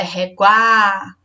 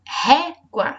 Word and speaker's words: régua: Então, é régua ou é réguá? Então, régua, essa é a pronúncia correta da palavra.